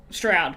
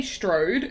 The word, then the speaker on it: Strode: play laurie strode stroud it's weird that they say strode and i'm like that's not how you say it in australia like the way she spells her last name i was like that's not how we'd say it here because there's only one o so what do you